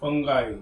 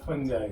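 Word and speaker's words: fungi: Lichen, दो का association है, एक एल्गी है, ये क्या करता है, do photosynthesis and provide nutrition to फंगाई या फंजाई, जो भी आपको प्रोनाउंसिएट करना है।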